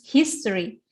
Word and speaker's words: history: The question is, which words in the list have the same pattern of stress as history? History, stressnya di mana? In the first syllable.